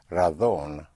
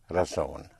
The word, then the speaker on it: razón: The word for reason, spelled R-A-Z or Z-O-N, in Castilian Spanish will be pronounced razón, otherwise razón.